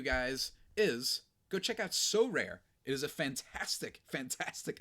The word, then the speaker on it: Sorare: Our new sponsor, So Rare, and that's 2 syllables.